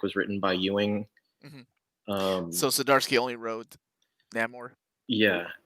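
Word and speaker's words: Zdarsky: anybody I want to be that jerk y'all pronounce whatever the hell y'all want to but it is chip sidarsky fresh like I got that one right yeah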